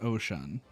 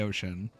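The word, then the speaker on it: Oshon: ocean motion okay so it's pronounced ocean which is weird because he's not the god of the ocean but but it's pronounced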